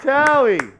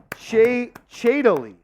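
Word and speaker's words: Thibodeau: Coach Tally. It's pronounced Shadily.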